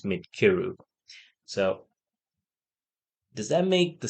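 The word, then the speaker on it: Midcyru: It's not Midkrayu or Midsiru as we used to think. The pronunciation is Midkiru.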